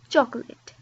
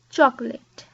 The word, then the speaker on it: chocolate: But we say chocolate, chocolate. So it's just 2 syllables, and I understand it's